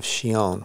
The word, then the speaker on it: Chillon: And if you look up in the newsletter, I think we did a release of Shion, which is spelled Chillon.